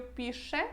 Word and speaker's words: piszę: Olha, eu pronuncio piszę, né? Quando está no final de uma palavra, às vezes a gente nem pronuncia ele. Ao invés de falar piszę, que seria hiper correto, muito correto, a gente fala só piszę, tá bom?